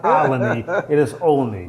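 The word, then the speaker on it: Olney: I'm going to spell a word, and I need you to pronounce this word. Okay? O-L-N-E-Y. Alany.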